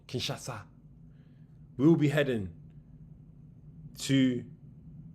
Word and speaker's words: Kinshasa: If we get the visa, we will then be heading to Kinshasha. Kinshasa. I've been saying it wrong. Kinshasa.